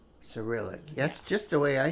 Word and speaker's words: Cyrillic: Cyrillic. Cyrillic.